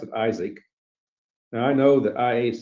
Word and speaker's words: IASC: we we pronounce uh some people call it IC like MAA but we we pronounced it Isaac now I know that I doesn't spell Isaac